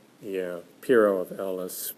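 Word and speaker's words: Pyrrho: just don't believe anything uh is how it's pronounced yeah piero of ellis p y double r h oh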